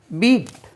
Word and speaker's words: beat: பீட் BEAT பீட்.